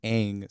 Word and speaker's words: Aang: out, for 3 years, you're used to saying Aang, Sokka, Iroh. There was another one too that they also butchered, or not Oh, yeah. butchered, but they kind of changed. But then you hear like Ong, Sokka, Iroh.